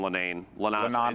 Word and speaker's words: Lenon: And the fact that he's already up here on this board, and a player like we call him Lenon. He's French Canadian, so that's how you pronounce it.